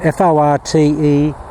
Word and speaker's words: Forte: there's a company called Forte golf f o r t e pronounced Forte now they're operating in